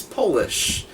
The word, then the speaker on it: Polish: nor 836 not right what's an English word that changes his pronunciation of meeting when capitalized one of you impressed me and you had two of them what I was looking for is polish when you capitalize it it's polish the other one is